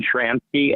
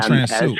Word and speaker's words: Shramsky: Her name was Megan is Megan Shramsky, MEGAN. Okay. Megan Transu. Okay. Okay. Shramsky. Oh, okay. Not Transu, Shramsky. Okay. Rhymes with Shramsky. It doesn't rhyme with anything else.